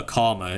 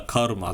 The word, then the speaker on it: Karma: you've got Akshan, sorry, I shouldn't call her Karma, you should call her Karma. That's her name, actually. Her name is Karma, right? At least that's how us Indians say it.